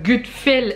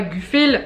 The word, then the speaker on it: Gutfel: Je vous en ai déjà parlé la semaine dernière dans ma vidéo unboxing de toiles que j'avais reçues du site Gutfel et non pas Gufel, hein, parce que j'ai pas été foutu de prononcer le nom du site correctement.